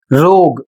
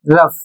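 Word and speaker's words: rough: अगला शब्द है आर ओ यू जी एच जिसे पढ़ा जाता है रफ। बहुत लोग इसे पढ़ते हैं रोग या रग। जबकि इसे सही उच्चारित किया जाता है रफ और इसकी हिंदी होती है खुरदुरा।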